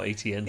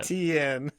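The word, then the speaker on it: Etienne: And he eventually just said, just say it how it's spelt. And that's how ETN came out. ETN.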